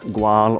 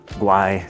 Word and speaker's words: Güell: Of course, he designed Park Gual or Park Guay, depending on how you pronounce the old double L's if you go with the traditional Spanish or Catalon way.